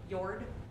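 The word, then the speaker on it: Jörð: you pull up jordan it is pronounced yard so wiser i mean j's or y's george sounds cooler um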